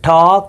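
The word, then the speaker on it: talk: کې په کلمه کې هم د ال حرف تلفظ نشو. نو دلته وایو چې ټاک هلته وایو چې واک.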